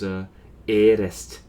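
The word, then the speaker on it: ǣrest: But then the other variation of this word is Erest. Erest. And that's an E with a macron and so I'm just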